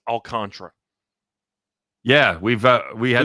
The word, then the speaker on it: Alcantara: go through by the way memorabilia it is pronounced alcontra yeah we've uh we have looked it up it's pronounced this has been a deal it was pronounced alcantara for the first two two seasons by us